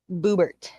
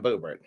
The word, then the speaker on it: Boebert: Boobert. Yep. Lauren Boobert. Yeah, is that how you pronounce it? I No. was I just wanna say boob. yeah, yeah, she is quite she's quite something. That's Lauren Boebert.